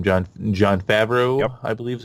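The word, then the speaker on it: Jon Favreau: John Favreau, yep. I believe is how you pronounce it.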